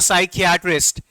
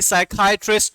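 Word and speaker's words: psychiatrist: इयर्शिया के साथ, तो साइकियाट्रिस्ट। साइकियाट्रिस्ट या फिर साइकाइट्रिस्ट जो बोला जाता है प्रोनाउंसिएशन में, मैंने दो प्रोनाउंसिएशन बताए थे आपको इसके।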